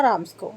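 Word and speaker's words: Ramsjö: अब देखो ये जब वहाँ से चला तो ये कहाँ पर पहुँचा, एक आयरन मिल थी जिसका नाम था राम्सको, ठीक है, इसकी प्रोनाउंसिएशन यही है।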